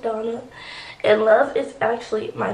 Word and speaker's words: Donna: that do know um my name is pronounced Donna somebody the other day said that they thought my name was pronounced like Diana no it's just Donna and love is actually